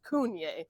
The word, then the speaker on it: CVNE: Yeah, and the reason that it is CVNE, they're called Cunye, but their first label that they ever created was printed wrong. CVNE, and so now that is why all their labels are CVNE, but they're pronounced Cunye.